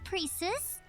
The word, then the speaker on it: Precis: My name is Precis.